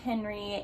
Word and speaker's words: Henri: in that book named Henri, and I know that it was based in France, so technically it is pronounced Henri when you do the French spelling that way, but I also found